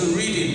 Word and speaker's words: Reading: 是那个，如果你念英文是 reading 阅读那个字哈，可是啊，在英国这个大学的校名要念成 Reading 啊，这是